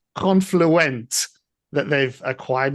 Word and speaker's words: Confluent: Now the the other thing that you guys need to remember is it's Confluent that they've acquired not Confluence. So Confluent is the CFKA guys. Not Confluence.